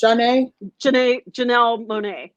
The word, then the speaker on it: Janelle Monáe: Janelle Monáe.